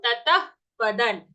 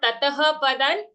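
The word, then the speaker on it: ततः पदं: When we exhale, it should sound something like a fa. Okay, a fa-like sound. Tatah padan. So not tataha padan.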